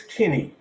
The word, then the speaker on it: Kinne: was this guy by the name of Dennis Kinney, Dennis. His last name is spelled Kinne, and they took me to him,